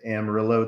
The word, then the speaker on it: Amarillo: in amarillo texas yeah you said it right ranch you corrected me even though you know i can't help but say it george george strait says it that way so therefore it's amarillo there we go and